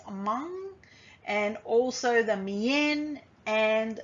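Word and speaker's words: Hmong: lahu the karen the which are locally pronounced as among and also the mien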